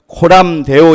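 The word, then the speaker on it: Coram Deo: 호남대 오라고 하는 것은 말 그대로 발음을 그대로 읽으면 호 람 데어 입니다 이것을 소리나는 대로 읽은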